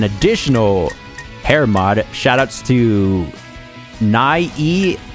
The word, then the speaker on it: Nie: Shoutouts to Nye, I believe that's how you pronounce it. It's spelled N-I-E.